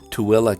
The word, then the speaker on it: Tooele: consider brigham city in box elder county or tooele county yes that's how it's pronounced toilet the great majority of juab county's